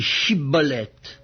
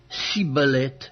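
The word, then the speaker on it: Schibboleth: Il lui disait alors : "Eh bien, dis chibolet." Et il disait si bolette, car il ne pouvait pas bien prononcer sur quoi les hommes de Galade le saisissaient et l'égorge près des gay du Jourdain.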